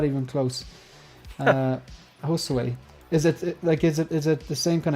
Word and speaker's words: Josue: Is that a different way of pronouncing or spelling Jose or? It's Josue. Yeah. Josue. Sorry, I'm not even close. Josue.